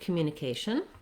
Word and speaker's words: communication: your communication and uh so both of these words the asian series of words have stress on the second to last syllable this is one of the patterns that happens in american english where we stretch on the second to last syllable and then the last syllable is short asian so my a is long and my shun is short because communication and accommodation